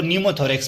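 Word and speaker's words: pneumothorax: number 26 what is न्यूमो थोरेक्स यहां पर P silent है हमारे पास इसको न्यूमो थोरेक्स पढ़ेंगे हम ए बलेड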